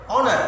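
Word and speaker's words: honour: মধ্যে এসটা কাটা যায়, অনার ও থেকে শুরু হয়, তাহলে যেখানে এইচ উচ্চারিত হবে না সেখানে অ্যান ইউজ করবে, আর যেখানে উচ্চারিত হবে সেখানে কি ইউজ করবে, এ ইউজ করবে।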